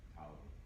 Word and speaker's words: Ptolemy: to butcher these names, Ptolemy, Ptolemy the first. He was the first king of Egypt. What was that? Ptolemy? Yeah. Thank you. The P is silent, so it's Ptolemy.